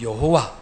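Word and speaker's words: 야훼: 누구신가 아버지 하나님 이시다 그분의 이름은 야외 또는 여호와 원래 발음대로 야외 하나님 그분 아버지 하나님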